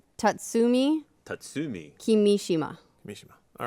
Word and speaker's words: Kimishima: No, I'm just getting corrected on pronunciation. Tatsumi Tatsumi. Kimishima.